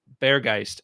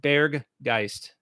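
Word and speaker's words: Berggeist: teddy says bear geist you have to pronounce the g at the end you pronounce it like bear geist which means bear spirit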